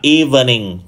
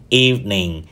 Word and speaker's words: evening: và từ thứ ba thường được phát âm là evening trong khi đó nó chỉ có hai âm tiết thôi Các anh chị EV và N evening evening và từ cuối